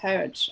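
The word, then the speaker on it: Harwich: woodlands camp at dover court bay near harbridge pronounced heritage okay children were initially placed when they arrived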